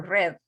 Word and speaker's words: read: Este red es como el color rojo, red.